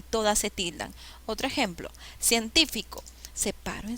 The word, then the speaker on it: científico: científico menos científico fatal cuál es la sílaba que se llama la mayor fuerza de voz científico y me dice que si lleva la mayor fuerza de voz en la ante penúltima sílaba es esdrújula y ciencia es brújula